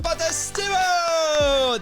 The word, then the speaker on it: Potestivo: So please welcome the one and only Vinnie Potestivo.